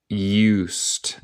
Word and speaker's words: used: When I used. Nota de la pronunciación. El ed en este caso suena como te.